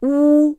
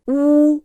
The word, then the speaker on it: 乌: When saying, 乌、 the tongue is in a back position, with the tip staying away from the inner surface of the lower teeth, and the tongue should be held backwards to pronounce the sound right.